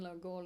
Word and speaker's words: Loughgall: Was executed with him in Loughgall, if you'd say it properly.